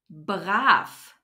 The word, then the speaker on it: brav: to talk about is the letter V which turns into an F at the end of a syllable or a word for example baraf means well behaved doesn't